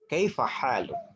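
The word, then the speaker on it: كيف حالك: kita menggunakan dengan sapaan kaifa haluk. Jadi Anda bisa menirukan dalam pengucapan kaifa haluk. Kalau tulisannya adalah kaifa haluka. Tapi kalau dalam pengucapan itu menggunakan dengan ucapan kaifa haluk.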